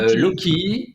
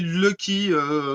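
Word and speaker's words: Loki: leur nom donc c'est loky loky ça s'écrit comment loky loky l o K i mais on aurait plus tendance à l'appeler Lucky la chance en anglais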